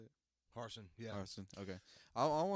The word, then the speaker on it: Harsin: I want to see what Brian Harsin. Is that how you say it? Harsin, yeah.